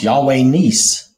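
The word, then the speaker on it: Yahweh Nissi: So I'm going with the way the guy pronounced it, which was Nis, Yahweh Nis.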